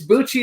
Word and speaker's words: Bucci: It's Bucci like Gucci, right?